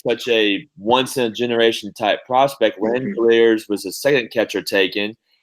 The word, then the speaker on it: Langeliers: Langeliers was the second catcher taken, and the scouting